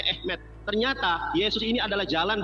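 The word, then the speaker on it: אמת: bahasa ibraninya aleb memtab dibacanya apa tulisannya Emet dibacanya ehmet ternyata Yesus ini adalah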